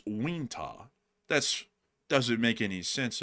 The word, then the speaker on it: Uintah: You would say Uintah, but it's Wintah.